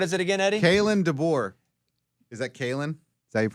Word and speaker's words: DeBoer: And DeBoer. the door rhymes with.